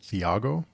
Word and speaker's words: Thiago: The next one is A Touch of Light by Thiago Abdallah, and I always pronounced it Thiago because that's just how I read it, but it is Thiago, so apologies for that.